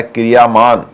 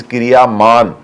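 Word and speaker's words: क्रियमाण: लिए उसका मतलब है क्रियामान। क्रियामान हो गया वो काम। हम क्रियामान को इंग्लिश में लिख रहे हैं इसलिए प्रोनाउंस हो गया क्रियामाना। शब्द इज क्रियामान।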